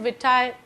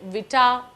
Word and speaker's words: vitae: of the same term it's a latin term and this term means